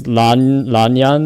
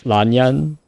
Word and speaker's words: Lan Yan: JP, but it's actually L, not R. Okay, so in the English it's Lanyan as well, but Lanyan. Yeah, I mean the Japanese it's like a bit of an R, but it's just like the cross between the L and the R.